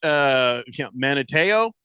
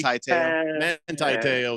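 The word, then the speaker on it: Manti Te'o: So now let me ask you this: Manateo? Not really. Manti-Teo.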